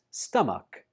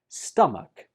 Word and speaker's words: stomach: But in this case, the CH is pronounced like ka.